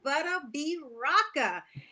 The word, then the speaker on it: Butta B Rocka: going to talk about we have with us butta b raka how are you did i pronounce that right you did i am doing